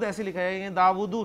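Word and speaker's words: داؤد: लेकिन जब जाहिर बात है कि हरकत वगैरह नहीं होंगी तो फिर दाऊद ऐसे लिखा जाएगा, दाऊदू नहीं पढ़ेंगे आप, दाऊद लंबा करके पढ़ते हैं आप।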